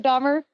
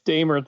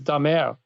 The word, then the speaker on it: Damer: You're using, by the way, the German pronunciation of my last name, but it's actually Dahmer? It's Dahmer, the British, but there's also a French Canadian. I'm from Canada, so when I'm in Quebec, it's Dahmer.